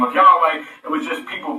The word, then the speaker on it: Yahweh: Now, the ancients pronounced this YHWH, and God had the name of Yahweh.